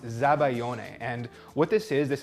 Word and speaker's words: zabaione: we're making the sabayon in the Italian this is actually pronounced zabaione and what this is